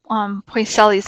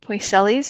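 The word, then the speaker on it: Poiseuille: from Spanish I so I probably said it wrong but it's P oh I s eu I ll eat boys Ellie's is how I've always learned it la and this isn't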